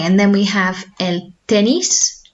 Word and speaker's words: tenis: Okay, and then we have el tenis. So that's obviously tennis, but we should be pronouncing as tenis.